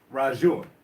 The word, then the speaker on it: RaJuR: Forgive me if I say your name wrong, but RaJuR? RaJuR.